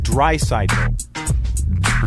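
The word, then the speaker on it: Draisaitl: Here, say it. Leon dry cycle.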